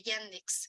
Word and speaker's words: Yandex: en el buscador de yandex se escribe y y a n d e x yandex así como se escucha Incluso si lo escriben